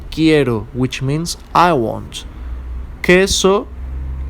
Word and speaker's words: queso: which means I want queso quiero ok the U is silent as we saw with